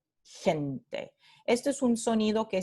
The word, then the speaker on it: gente: Entonces, en Chile se pronuncia como palatal, gente, gente.